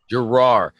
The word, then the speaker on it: Girroir: how you say that how do you say your last name so we clear this up and I don't butcher it so much in the future it's girar so it's that simple I get it right